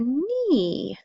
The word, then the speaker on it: knee: H what letter May what two letters make the n Sound with a a silent letter at the beginning hopefully remember it was silent k and then NE e e KN okay last picture we